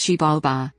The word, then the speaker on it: Xibalba: The Maya underworld, Xibalba, pronounced Xibalba, was not a place of punishment like the modern Western concept of hell.